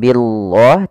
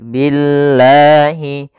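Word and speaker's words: بالله: kasr maka di sini lamnya menjadi lam yang tipis lam tipis bukan lam tebal atau kita namakan lam tarqik maka membacanya bukan Billah tapi Billahi ya Billahi kaia takfuruna billahium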